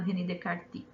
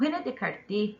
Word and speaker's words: René Descartes: A primeira delas é apresentada por um filósofo francês chamado René Descartes. O René Descartes, ou René Descartes, as duas pronúncias estão corretas, dizia que o melhor caminho para chegarmos ao conhecimento é utilizando a razão.